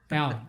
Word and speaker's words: Alen: want to say it to allen is that right or is it aylin it's allen okay i just wanted to